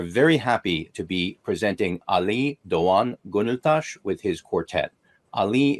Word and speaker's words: Ali Doğan: My name is Ali Doğan Gönültaş.